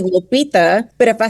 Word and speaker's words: Lupita: Like, no, where I'm from, like East Texas, I had to say my name as Lupita, as if it has a D in there, and it's actually Lupita.